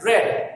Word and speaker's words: read: Similarly, shirt, okay, read, इनमें तीनों में स्पेलिंग सेम है, लेकिन रेड पास्ट में रेड बोला जाता है.